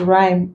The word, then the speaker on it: rhyme: Then also after R and G, we do not pronounce it. Giving examples, rhyme, rhythm, rhinoceros, ghost, ghetto, ghastly, aghast. The is coming after the G and we do not pronounce them.